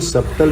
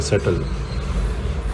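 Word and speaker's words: subtle: हाँ, ये सब्टल मैंने बोला था, एक्चुअली इसको जो है इसका बी साइलेंट होता है, सटल।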